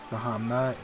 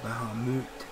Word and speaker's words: Bahamut: emerged Elder Primal bahamama that's another one I have pronunciation errors on bahamama or Bahamut uh think it's the latter one that is the correct pronunciation but everyone tends to